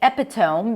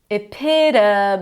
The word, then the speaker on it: epitome: I hear a lot of people say epiome because of the t- spelling. Usually when you have o a consonant in an e, the last vowel is going to be pronounced with a long o is in go like hope or bone. But in this case, no, it's epito. The o is actually awah.